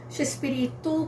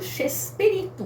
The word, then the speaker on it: Chespirito: Então, e de tanto falar, pronunciar, né, pra lá e pra cá, eles deram uma mexicanizada no nome, acabou virando Chespirito, com CH mesmo, né, de tanto falar, de tanto pronunciar, Chespirito, e pegou.